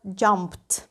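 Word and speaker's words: jumped: за допомогою закінчення Ed минулий час звучить як jumpt дієслово Dance американці кажуть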